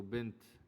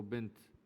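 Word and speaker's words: بنت: If we stop at the word, we cannot pronounce it as ha. We have to pronounce it as ta. So bint, you cannot pronounce it as bin. Okay, so bint.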